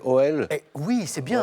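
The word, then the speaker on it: Auel: Oui, mais je ne sais pas si je vais bien prononcer OL. Oui, c'est bien, Howell, c'est ça, exactement.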